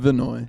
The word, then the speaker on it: Vannoy: Vannoy.